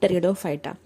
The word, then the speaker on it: Pteridophyta: अब ये जो टेरिडोफाइटा है, in this case the पी is silent. अगर इसका आप स्पेलिंग देखेंगे तो ये पी से स्टार्ट हुआ है, बट हम इसे रीड करेंगे एज अ टेरिडोफाइटा।